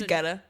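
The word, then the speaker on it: Guetta: Geta. Geta. Yeah, you were close. But I think the How do you pronounce? It's ghetto in Swedish.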